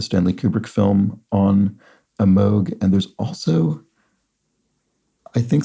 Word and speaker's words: Moog: Pioneering synthesizers introduced in the 1960s are Moogs. Looks like Moogs, but I believe it's more properly pronounced Moog, named for its inventor, Robert Moog.